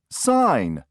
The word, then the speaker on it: sign: t e did you Circle H number four sign sign s i g n did you Circle